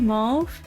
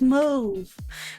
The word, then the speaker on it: mauve: So, we mauve. We move. I keep mispronouncing I keep I keep wanting to say mauv. It's not mauve. It's mauve. We mauve.